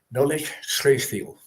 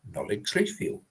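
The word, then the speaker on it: Nollaig Chridheil: Well, the spelling is very different to the actual pronunciation. And forgive me, Gaelic speakers on here tonight, if I have not got it right. But it should be Nolig Chreithil.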